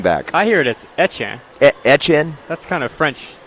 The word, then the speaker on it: Etienne: I would guess that you have never seen somebody with that name spelled pronounce it that way, but it's his name, and that's what he wants to be called. Say it again. It's not Etienne, it's Etienne.